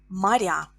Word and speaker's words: моря: Море in plural, моря. Море, моря. Море, O is stressed in singular. Моря, я is stressed in plural.